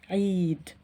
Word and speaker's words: عيد: There is kasra below the letter عين. So here it is pronounced عيد. So yeah, here is a long vowel sound.